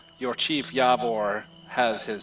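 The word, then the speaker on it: Javor: her name the chieftain is yavor spelled with a J of course yavor fenor and fenor second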